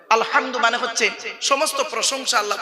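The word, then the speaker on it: الحمد: দেখেন আলহামদুলিল্লাহি রাব্বিল আলামিন আলহামদু আলহামদু এই গলার ভেতর থেকে উচ্চারণ করবেন আলহামদু মানে হচ্ছে সমস্ত প্রশংসা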